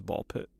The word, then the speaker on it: Ball x Pit: That was Ball Pit. Ball X Pit. The X is silent.